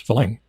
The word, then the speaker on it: farang: it's just Fang it's Fang um the ties say it more with the emphasis on the first syllable like falling falling like that falling it just means a